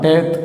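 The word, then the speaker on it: טית: ஆனா இத ஜாயின் பண்ணாம இடையில கேப் விட்டுரும் அப்ப இந்த கேப் இருந்து இப்படி எழுதும்போதுதான் இததான் டேத் அப்படின்னு உச்சரிக்கிறோம் இந்த டேத் என்கிற எழுத்து சாத்தானை அடையாளப்படுத்துகிற எழுத்தாக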